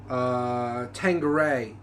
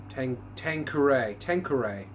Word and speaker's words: Tanqueray: I learned that today when trying to pronounce Tanqueray gin. Tanqueray is actually how you say it. I thought it was Tanqueray, and Nathan thought it was something else.